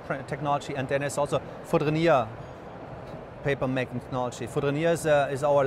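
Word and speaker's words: Fourdrinier: Foudrenier.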